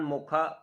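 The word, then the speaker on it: Mocha: और इसका नाम रखा है इन्होंने मोचा, जिसका उच्चारण मोखा मोखा किया जा रहा है।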